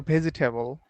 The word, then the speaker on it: vegetable: Vegetable or vegetable? Vegetable. Vegetable, vegetables, Yeah. It's like do not pronounce the E.